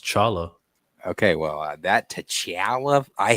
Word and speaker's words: T'Challa: It's actually supposed to be pronounced Chala.